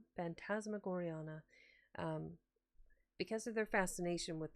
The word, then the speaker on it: Phantasmagoriana: And because of their interest in the Phasmagoranania, I think it was. Let me look at that again. Pronounce it correctly. Because of their fascination with the book Phantasmagoriana.